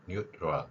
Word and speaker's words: neutral: 짧게 한 번의 호흡으로 연결되어서 소리가내는 방법이죠 그래서 뉴트럴 트럴 발음이 같은 경우에 트럴이 아니라 트 이렇게 연결돼서 뉴럴 이렇게 발음할 수 있는 것이죠 이러한 그 겹친 발음의